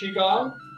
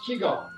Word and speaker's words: Qigong: And it's pronounced Qigong or it's pronounced Qigong. But it's the same thing, just maybe different, a little bit different ways of presenting it and doing it.